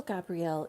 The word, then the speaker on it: Gabriel: And sometimes it's Archangel Gabriel. And I think I said the other way of pronouncing it, Gabrielle, because of course the angels are not involved with gender.